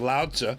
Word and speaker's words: Laozi: I pronounce his name Lao Tzu which is how Chinese people pronounce it and how he pronounced